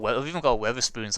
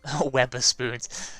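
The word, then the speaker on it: Wetherspoons: I'll have to definitely it's called Weatherspoons. It's how I say it's how my accent works, but it's called Weatherspoons. It's spelled as Wether spoons.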